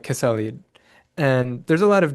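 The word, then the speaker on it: Quesalid: a Kwakwaka'wakw shaman named, I think it's pronounced something like Kesalid.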